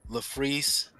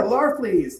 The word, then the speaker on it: Larfleeze: So this here is Green Lantern LaFreeze. I think I'm pronouncing this correctly. The Christmas special. Ooh, yeah, Larfleeze, yes.